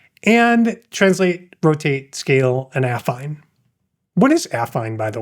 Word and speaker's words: affine: And if you do affine, it's actually pronounced affine, I believe. Affine. Affine. Oh, see, look, I didn't even put the emphasis on the right syllable. It's affine.